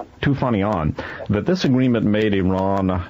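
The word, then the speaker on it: Toufanian: How's it pronounced? Beginning with a T? Tufanian.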